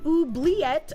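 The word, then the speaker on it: oubliette: Let pronounced oobleette.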